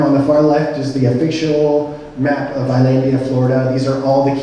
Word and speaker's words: Islandia: fellas that is pronounced Islandia not is landia to keep yourself fully informed please do this I should tell you by the way that I say Islandia I use the Spanish pronunciation pronunciation uh because it